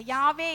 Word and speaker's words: யா: ஆண்டவருடைய பெயராக அங்கே குறிக்கிறது it is how you pronounce யா you see நீங்க அந்த யா என்று சொல்லி உச்சரிக்கும் போது அது நீங்க அந்த சுவாசத்தை உள்ளே இழுக்கிறதாக இருக்கிறது everybody try i say one to three you say யா by breathing in okay one two three